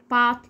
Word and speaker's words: bought: حروف صامته ما بننطقهاش، زي رايت، نايت، 8، بات، لايت.